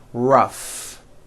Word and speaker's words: rough: rough notice the GH combination in that word Ruff let's work on this paragraph do you feel